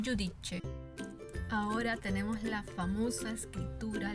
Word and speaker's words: giudice: Giacca, que significa chaqueta, giorno, que significa día, y giudice, que significa juez. Bien, recordemos los sonidos: giacca, giorno y giudice.